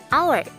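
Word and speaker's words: hour: Di sini kata our berawalan huruf H, tapi ketika diucapkan dalam bahasa Inggris bunyinya menjadi our.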